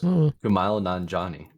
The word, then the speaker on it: Kumail Nanjiani: Kumail Nanjiani, I think. Jeez, good gracious. Let me do listening. Oh my gosh, I was actually really close. Kumail Nanjiani.